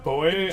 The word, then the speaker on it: buoy: Fun fact, so as I understand, Americans pronounce buoy as, in a floating water market as buoy, whereas the English pronunciation is actually boy, as it stems from buoyant.